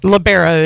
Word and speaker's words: libero: all over the court now I've heard there's two different ways to pronounce that word what's the other one libero maybe I don't know surely I've always heard libero have you always heard labero labero is is how it's pronounced all right I I